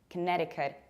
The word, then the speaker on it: Connecticut: This state is not pronounced like Connecticut. You don't pronounce cut like cut, and you don't pronounce connect like connect. You have to reduce the first syllable, k, not ko, k. Then you stress ne, Connecticut, and you pronounce T like a strong American T, which is something in between d and r. Connecticut. K is reduced.